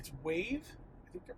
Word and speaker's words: Wayve: It's Wayve. I think they're pronounced Wayve, and Tesla with the whole end-to-end neural network.